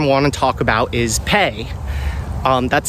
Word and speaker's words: Pei: Now, the next app I want to talk about is Pay. That's spelled PEI.